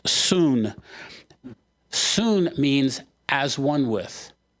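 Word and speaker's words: σύν: the word it's soon we would spell it like sun Su n it's pronounced soon soon means as one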